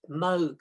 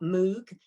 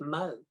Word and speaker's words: Moog: and here is a mug synthesizer it's called moog folks not moog it's pronounced moog so you can that's the first thing you